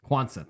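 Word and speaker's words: Quansah: being Kate Van djk Gomez and ques yeah quansa thank you I couldn't remember how to pronounce it and then I was reading it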